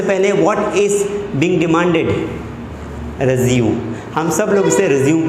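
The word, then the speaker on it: résumé: हम सब लोग इसे रिज्यूम पढ़ते हैं, मैक्सिमम लोग रिज्यूम पढ़ते हैं, लेकिन प्रोफेशनल लैंग्वेज में इसे रिज्यूम नहीं पढ़ा जाता है। उसका मीनिंग कुछ और ही होगा। रिज्यूम पढ़ा जाएगा लेकिन उसका मीनिंग कुछ और होगा। लेकिन यहाँ पर जब हम अपने बायोडाटा की बात कर रहे हैं तब हमें इसे पढ़ना है रेज़्यूमे। रेज़्यूमे, रेज़्यूमे। क्या पढ़ोगे आप? रेज़्यूमे, रेज़्यूमे। ओके, ध्यान रखना है, रिज्यूम नहीं पढ़ना है ना।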